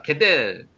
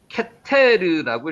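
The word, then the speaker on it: גֶּתֶר: 자, 우스와 훌과 게델, 케테르라고 읽습니다. 케테르.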